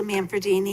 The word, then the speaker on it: Manfredini: very short thank you I'm manfredini I live at 76